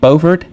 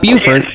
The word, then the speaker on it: Beaufort: Is that right, Alex? Beaufort? Not Buford.